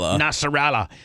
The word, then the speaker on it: Nasrallah: Nasrallah.